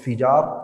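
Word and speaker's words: فجار: As a benefit, right, this battle, the reason why it's called Al-Fijar, Fijar, by the way, some people pronounce it wrong, is Fijar ala wazni qital, okay?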